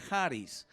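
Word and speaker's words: χάρις: s la escritura k h s pero se pronuncia haris la heart is del eterno parís de dios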